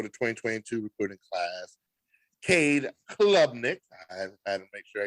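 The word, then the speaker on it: Klubnik: quarterback recruit for the 2022 recruiting class Kade Club Nick I had to make sure I got the name um pronounced correctly Club Nick ni Nick he not only he played in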